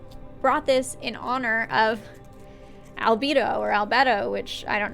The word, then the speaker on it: albedo: time is up but it sounds like the word libido it just sounds sexual anyway like the word albedo but that word also